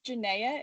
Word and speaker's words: Janaia: correctly oh yeah it's janae it rhymes with zendaya yeah you're actually right